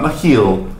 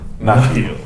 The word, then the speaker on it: Nahil: Not Nahil. Nahil. He is of Bajoran descent. He will get very offended if you put the accent or the stress on the wrong syllable of his last name.